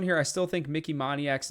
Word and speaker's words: Moniak: I still think Mickey Moniak's not too bad. Moniak, I think, is actually how you pronounce it.